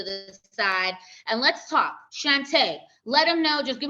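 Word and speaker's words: Chanta: hi y'all uh I'm Shantae c-h-a-n-t-a I like to say is pronounced Sashay Shantae like RuPaul says uh I am um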